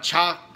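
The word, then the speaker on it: Chacao: arrested ramon muchacho and he is a mayor from the town of chalk so if I pronounced that correctly spelled CH a CA o and Ramon muchacho is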